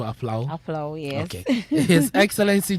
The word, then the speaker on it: Apawu: And Eric from Aflau also says, it's pronounced Apawu.